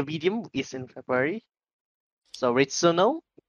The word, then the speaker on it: Returnal: How do you pronounce that? Returnal? Renewal? Returnal.